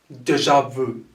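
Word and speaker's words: déjà vu: that is french inspired is this one here deja vu that's how we spell it if you want to spell it as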